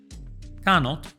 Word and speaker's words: cannot: Canot se pronuncia con a de gato y con o corta.